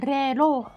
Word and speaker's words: reloj: Yeah, J sounds like H, right? Reloj. El reloj. El reloj. El reloj. Reloj. Do we have the correct? Ho, ということでしたが。 Like an H that wants to be a GH. What's an H that wants to be a GH? Reloj.